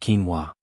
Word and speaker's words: quinoa: It's called quinoa, pronounced quinoa.